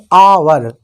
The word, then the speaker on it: hour: इसे हम हावर नहीं पढ़ेंगे, इसे हम पढ़ेंगे आवर। तो यहाँ पर भी ये एच है, लेकिन यहाँ पर क्या है, जो हमारा स्वर आ रहा है, लिखने में एच है लेकिन जो हमारा स्वर है वो आ है यहाँ पर।